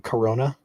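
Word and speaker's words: Corunna: pronounced just like the beer. So it's like Corona.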